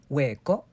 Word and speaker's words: hueco: Unless it's next to the letter C to make the ch sound, the H just doesn't exist. So please, please never pronounce it. Listen carefully as we say huevo, hueco, hueso.